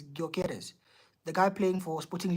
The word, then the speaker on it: Gyökeres: I think the way you pronounce it is Gyökeres, the guy playing for Sporting Lisbon.